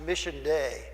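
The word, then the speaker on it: Missio Dei: there's a Latin phrase uh entire that is pronounced Mission day and it means that it's the mission of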